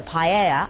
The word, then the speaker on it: paella: And I've ordered two representatives of Spanish cooking, the paella or the paella as it's pronounced and some lovely meatballs.